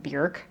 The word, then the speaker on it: Björk: I think I think I think she says her you pronounce her name Björk, like rhyming with jerk, but everybody says Björk.